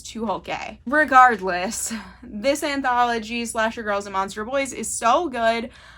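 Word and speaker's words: Tucholke: It is stories selected by April Genevieve Tukolk, or actually, I just looked up how to say her name properly, and I believe it is Tuholke.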